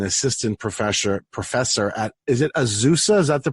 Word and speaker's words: Azusa: I'm very pleased again to be with Joshua Rasmussen, who is an assistant professor at, is it Azusa? Is that the pronunciation? Yeah, Azusa Pacific.